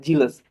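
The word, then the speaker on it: zealous: अब चलते हैं देखते हैं ये कौन सा वर्ड है, जीलस, ठीक है। जेलस, इसका प्रोनाउंसिएशन जेलस होता है, इसका मतलब उत्साही और जोशीला होता है, ठीक है, जोशीला।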